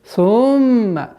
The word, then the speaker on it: ثم: Одна из самых распространенных ошибок. Сумма. Такое удлинение огласовки дамма в этом слове. Нужно сократить естественное правильное произношение. Сумма. Удержание в назализации в размере 2 огласовок.